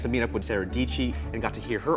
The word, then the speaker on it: Dietschy: Her last name rhymes with Peachy. Hey guys, Sara Dietschy here.